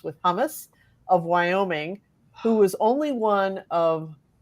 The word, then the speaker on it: Wyoming: I'm going to have to go with Senator Cynthia Lummis, rhymes with hummus, of Wyoming, who was only one of several national-level politicians